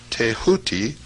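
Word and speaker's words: Thoth: ibus headed scribe of the Gods tho pronounced touti the so-called Emerald Tablet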